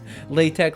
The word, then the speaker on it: LaTeX: LaTeX, LaTeX, however you want to pronounce it. They're actually both acceptable.